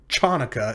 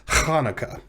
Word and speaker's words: Hanukkah: very often you'll see hanukkah hanukkah written with a ch at the beginning but it's not chanukah it's hanukkah so just try to